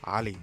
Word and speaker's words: Ali: if I ever a will my name is Ali Ali if you're saying it correctly I've lived here